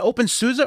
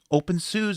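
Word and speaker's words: openSUSE: open soos are wrong is it open souza or open sues because somebody said that's what i thought that's the way i've always said it but apparently open sues is the way they're supposed to pronounce it i don't know i thought it was open souza um so uh some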